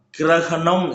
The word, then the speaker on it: கிரகணம்: கிரணம்னு சொல்லக்கூடாதாம் கிரகணம் என்று சொல்லணும்.